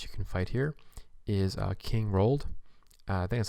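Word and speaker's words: King Roald: easiest guy that you can fight here is king rolled that's how you say his name but he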